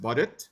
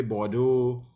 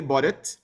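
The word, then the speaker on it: Baudot: some people pronounce it differently so it's really pronounced bodit but some people say Bodo or Bodo you know like but it's really boded um boded code and boded code uses five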